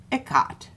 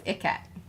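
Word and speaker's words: ikat: But it's spelled I-K-A-T. Yeah. We always thought it was Icat.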